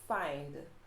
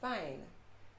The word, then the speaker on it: find: one so for example a word like find i tend to hear fine and instead of mind i hear mine instead of grind i hear grind so always remember the double consonants to pronounce both in the end so mind grind find so you want to pronounce those last letters all right so that's